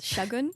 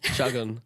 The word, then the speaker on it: Shagun: But I thought it's instead of the hard A, it's Shagun. Shagun.